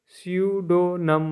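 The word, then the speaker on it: pseudonym: है रिट पढ़ना है पी एस यू एस पी एस ई यू डी ओ एन वाई एम सूडो नम मतलब झूठा नाम होता है न 11 है यू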